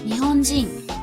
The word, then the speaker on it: 日本人: But in 日本人。 the accent is on ji.